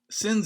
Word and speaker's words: Cynz: them into your browser sims is spelled c y and z but without a do here they are